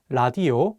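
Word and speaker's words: 라디오: let's take the word la dio which means radio and this word the consonant lear is at the beginning of the word so it'll have an l sound let's do another example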